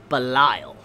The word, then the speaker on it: Belial: related to someone called Belial. Now, different pronunciations to the name, but the reason why I know how to pronounce it this way is because I played a game called Diablo. If you ever played a